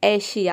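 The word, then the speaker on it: Asia: तो यहाँ पे हम एस को श प्रोनाउंस करेंगे, ए का ए हो जाएगा और SIA इसका हो जाएगा शिया, पूरा हो जाएगा एशिया।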